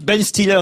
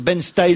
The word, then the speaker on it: Ben Stiller: Ah bah c'est moi qui avais raison, j'ai dit Ben Stiller hier et j'ai entendu Isabelle Motro dire Ben Styler.